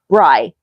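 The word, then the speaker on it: Brie: Her name was spelled B R I E pronounced Bry. That's weird. But nope. No offense. Every teacher No, Bri. Every teacher pronounced it Bri. Every single one. And she always had to correct them.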